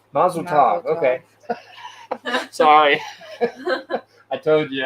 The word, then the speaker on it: Mazel Tov: subscribers Del Troy then how do you say that Michelle maisel toe Mazel Tov Mazel Tov okay sorry I told